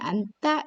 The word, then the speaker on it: 앉다: 이것은 안따가 아니고요. 안다라고 읽으셔야 되고요. 두 개가 있으면 안따 이렇게 됩니다.